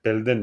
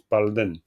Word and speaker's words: Palden: Normalement c'est Pelden mais ça se prononce Palen souvent.